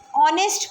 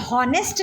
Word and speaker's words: honest: जब मैंने इस वर्ड को प्रोनाउंस किया तो यहाँ पे H साइलेंट है, H की आवाज़ आ ही नहीं रही है। ऑनेस्ट पढ़ रहे हैं हम इसे, ओके। यहाँ H साइलेंट, हम इसे हॉनेस्ट नहीं पढ़ते, ऑनेस्ट, ओके।